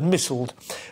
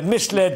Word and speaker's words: misled: partying pm misled commons i'm always tempted to pronounce that word missiled but um they misled the commons well that